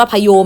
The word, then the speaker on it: โพยม: นะ พระ หรือ นภา โพยม อ่าน ว่า พะ โยม นะ คะ เนี้ย นะ ไม่ จาก oyome นะ เวหา อัมพร นภาลัย